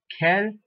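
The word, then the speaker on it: quel: masculine as K there q u a L Kel you have the plural form as K again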